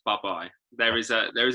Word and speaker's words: Bubye: one third of buh-bye it's pronounced bye-bye there is a there is a bit of a story behind it we'll talk about that in a minute bye-bye i like that i